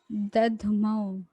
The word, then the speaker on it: दध्मौ: दध्मौ, आधा दा है आधा धा है। दध्मौ, दध्मौ। प्रतापवान, प्रतापवान। तस्य संजनयन् हर्षं कुरु वृद्धः पितामहः। सिंहनादं विनद्योच्चैः शंखं दध्मौ प्रतापवान।